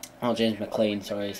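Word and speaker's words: McClean: got up front like Kevin Doyle Robbie Keane James McLean oh James McLean sorry is how it's pronounced um I I think yeah isand will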